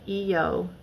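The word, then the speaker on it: Iao: I'll find another angle so it's called It's pronounced like EO but it's called EO Valley like e i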